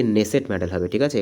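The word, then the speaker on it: Knesset: এটা speaker of দি নেসেট medal হবে। ঠিক আছে? এখানে কে উচ্চারণটা কিন্তু সাইলেন্ট থাকে। আর নেসেট কিন্তু হচ্ছে ইসরাইলের যে ইসরাইলের যে আমরা বলতে পারি যে উচ্চকক্ষ যেটা বলে বা পার্লামেন্ট।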